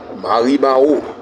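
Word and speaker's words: Maribahoux: Mais les gens disent, comme nous vous le disons, Maribaou. Mais c'est Maribaou pour les étudiants, ça s'écrit M-A-R-I-B-A-H-O-U-X.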